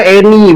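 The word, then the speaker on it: אני: Karena abang nggak bisa kosakata bahasa Ibraninya, ini dibacanya Eni bang, artinya aku, dibacanya Eni. Itu karena nggak ada vokalnya bang.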